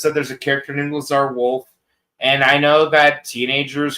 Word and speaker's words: Lazar Wolf: You know, all I know is that there's a character named Lazar Wolf. And I know that teenagers who don't know Yedish always want to play that character because they mispronounce as Laser Wolf.